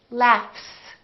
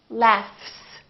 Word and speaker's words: laughs: give you another example the word laughs this gh is actually an F sound right there's no vibration in my vocal cords so the f is actually a voiceless sound so that means the s that follows it will also be voiceless and we will say laughs laughs look at this word